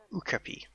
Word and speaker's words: okapi: I keep forgetting how to pronounce these. Okapi, I think is the right pronunciation.